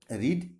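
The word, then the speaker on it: read: কোন বইটি পড়া হচ্ছিল, which book was being রেড। রিড কিন্তু উচ্চারণটা হবে রেড।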